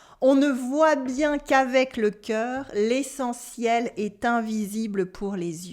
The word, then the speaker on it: le cœur: You have le E dans l'eau with the sound E. le cœur, le cœur.